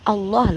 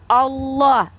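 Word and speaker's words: الله: kalian Kalau kami Allah Allah lamnya tuh kalau ada sama tasydid tuh ada tiga tuh Allah ditafkim bacanya ditebalkan Allah bukan Allah allahah ya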